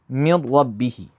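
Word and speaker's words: مِن رَبِّهِ: I'm pronouncing the letter as one single mushaddad letter and it's going to be the same as the second. So, I'd say mir rabbihi.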